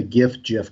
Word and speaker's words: GIF: Okay, what does the G stand for? It stands for graphic, correct? Yes. Do you say graphic? No, I don't. Oh, okay. So it's a hard G.